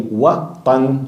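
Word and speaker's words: وطن: The same way how we pronounce the way watan, which means the country, it's very similar. We change just one sound, which is wathan, which means a statue.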